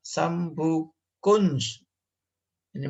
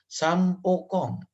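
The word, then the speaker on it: Sam Poo Kong: Misal kama seperti ma'bad Sambu Kunj. Ini bacanya bukan Sambu Kunji, tapi Sampokong.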